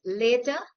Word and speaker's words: later: For example, let us compare the words later and latter.